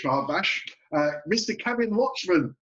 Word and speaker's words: Luchmun: very happy actually because you just pronounced my name right i have so many people like say my name different ways yeah is it like lunch man look man oh that's all sorts but you said it right i've only just realized